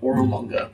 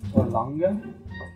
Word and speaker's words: Orolunga: Oh, in fact, it is the ziggurat of Orolunga. We have not heard that. that's a word. Ziggurat. Orlanga?